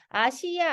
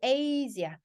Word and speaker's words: Asia: 아시아 아니고 Asia. usually use 사운드거든요.